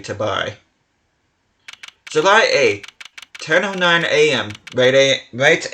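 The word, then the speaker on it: Tobaye: The body, guitar in hand, and the pianist, Machi Tabai. Or Tabai, however you're supposed to pronounce it. I think it's actually supposed to be Tabai.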